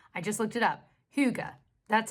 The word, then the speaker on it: hygge: Hygge, that's how you pronounce it.